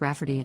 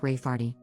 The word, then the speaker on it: Rayfarty: wanting to name my niece Rayfarty, pronounced Rafferty, not at all like Rayfarty.